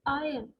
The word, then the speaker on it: iron: Okay, but the sound here is iron, iron. So your R is silent over here, and it's iron, AIUHN, two sounds.